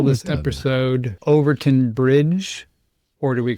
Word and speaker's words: Overtoun: If you go out on the interwebs, like my assistants and I do, it's said different ways, but I listened to a couple of locals say it, and it's Overtoun.